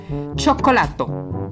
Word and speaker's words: cioccolato: Nótese que el primer sonido suena como una che porque está seguida por una vocal, mientras que en el centro la C se pronuncia normal porque le sigue una letra O.